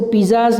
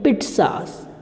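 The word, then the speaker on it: pizzas: इसको पिज़्ज़ाज नहीं बोलेंगे, पिट्ज़ास. पिट्ज़ा क्या बोलेंगे, पिट्ज़ा. इसका प्रोनाउंसिएशन क्या रहेगा, पिट.सा, पिट्ज़ा, ये प्रोनाउंसिएशन रहेगा इसका.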